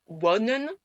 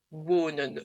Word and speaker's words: wonen: C'est pour ça qu'on ne dit pas wonen, on dit wonen. Donc le O, comme en français, le O long.